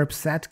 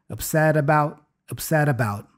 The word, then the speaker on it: upset: And then again, the T here for upset kind of disappears. And then actually it doesn't disappear because, you know, we have a vowel right after for the about. So the T becomes a flap T, the da-da sound. So upset a. Da-da, you see? Upset about.